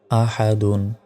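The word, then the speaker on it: أحد: জবর হাদাল পেশ দুন আহাদুন এখানে থামলে শেষ অক্ষরে সাকিন দিয়ে উচ্চারণ করতে হবে আহাদ উচ্চারণ হবে ওয়ালাম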